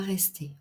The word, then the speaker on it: restés: dernière consonne plus rien nous sommes allés ils ne sont pas restés en ne prononce pas le S mais on l'écrit et le féminin pluriel